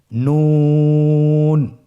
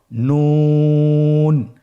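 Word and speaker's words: نون: নুন হরফটি উচ্চারণের ক্ষেত্রে অবশ্যই পাতলা করে উচ্চারণ করতে হবে এবং তিন আলিফ টেনে পড়তে হবে। আপনারা আমার সাথে বলুন নুন। আরেকবার চেষ্টা করুন নুন।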